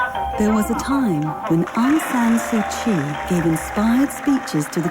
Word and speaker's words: Aung San Suu Kyi: Aung San Suu Kyi. Aung San Suu Kyi? Yep, you've got it. Not a problem. No. Aung San Suu Kyi.